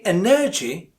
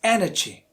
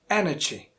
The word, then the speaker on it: energy: or the second one if you say energy of course it's a second one but it's not correct it's energy energy so stress falls on the first syllable energy